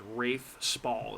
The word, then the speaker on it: Rafe Spall: the character of Luke, who's played by I think his name is Rafe Spall, is how you say it.